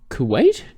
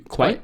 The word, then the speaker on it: Kuwait: So, advance tickets are now no longer available in Saudi Arabia, Kuwait. It's spelled K-U... Kuwait.